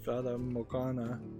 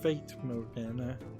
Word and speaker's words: Fata Morgana: if the House of Fata Morgana, which I think I've been mispronouncing as the House of Fate Morgana.